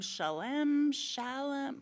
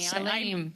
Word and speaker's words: Shalem: And finally, we will turn to Amy Behrens from Shalem. I'm sorry, Amy. Shalem. Shalem. I knew. See, I always pronounce it wrong.